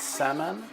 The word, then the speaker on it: Saman: It's Saman, that's spelled S-A-M-A-N.